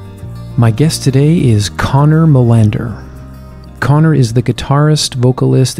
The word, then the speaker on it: Molander: How do you say it in the proper Scandinavian pronunciation? I think it's Molander. Wow. When I say that to Swedish people, their eyes light up.